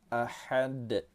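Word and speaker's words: أحد: Huruf dal terletak di akhir kata, kita pantulkan cara membacanya. Nama hukum tajwidnya ialah qalqalah kubra. Ahad. Kita keraskan, tapi jangan terlampau keras pula. Ada yang bacanya ahad, nah gitu, jangan seperti itu ya.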